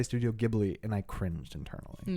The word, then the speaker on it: Ghibli: and only Studio Ghibli Ghibli Ghibli it's a j it's a soft G not a hard G do some people say